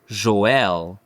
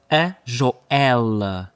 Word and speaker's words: Joelle: So, without further ado, let's move on to the first video which was sent in by Joelle. Me. Joelle. (fem.) It's not Joel.